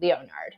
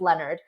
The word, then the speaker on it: Leonard: I mean I mean people mispronounce my name Leonard all all the time but that doesn't mean that I switch to Leonard you know I just no it's Leonard um so you know